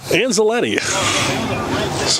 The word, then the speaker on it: Anzaletti: in Matt's Matt anzaletti anzaletti last name rhymes with spaghetti you wanted us to